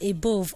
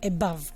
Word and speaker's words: above: this particular letter is the Schwa sound, which is pronounced as What examples are? Above. People call that word above or above, I don't know. But please try to say above, okay?